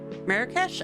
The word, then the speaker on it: Marrakesh: Marrakesh.